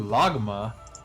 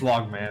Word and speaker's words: Logman: Ooh, Logma. Logma. Continue, pick your thing. Pick your thing. Don't me. It's Logman, actually. I said it wrong.